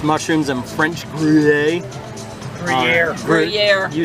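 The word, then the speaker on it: Gruyère: Gruyere.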